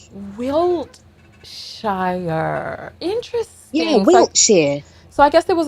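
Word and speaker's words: Wiltshire: so like wilkshire technically it's spell with a t but we just we don't really enunciate it we just sort of um tease it wait the t is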